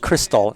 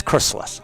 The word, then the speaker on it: Chrysalis: pronounce it properly, and they kept on calling it Crystal Implant Center for the first few years. So it's Chrysalis, right?